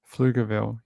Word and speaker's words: Pflugerville: And then it just said, just say it without the P. And I was like, okay, so Pflugerville.